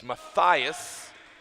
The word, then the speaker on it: Matthias: I don't know your first name, Mark's wife, but she sent us a heads up on the pronunciation of her son's name, as well she should. She named him. She's allowed. And it's Matthias, as Brody Black inches him a little bit closer.